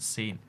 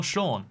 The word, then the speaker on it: Sean: you can ask him why it's pronounced shawn and not seen i'm just saying saun